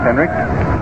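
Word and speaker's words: Henrich: is pronounced is all the final letter is a k although it's spelled hn r i c h Henrik was really pounding that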